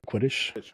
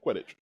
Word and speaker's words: Quidditch: world spots of, I don't know how to pronounce that, Quidditch? Hold on. Quidditch? Yeah, Quidditch.